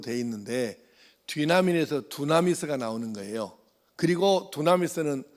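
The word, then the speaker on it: δύναμιν: 여기서 말하는 권능 또는 능력으로 번역된 이 단어는 헬라어 성경에 우리가 발음을 하자면 뒤나민으로 되어 있는데 뒤나민에서 두나미스가 나오는 거예요.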